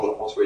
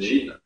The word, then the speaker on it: Jean-François: Mon vrai nom, c'est Jean-François, mais c'est impossible que les Américains prononcent correctement Jean-François ici et pensent que mon nom, c'est Gene, ce qui m'énerve.